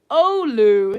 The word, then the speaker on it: Oulu: February is Oulu, is how you would pronounce that now.